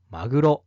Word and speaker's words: 鮪: この漢字はマグロだ。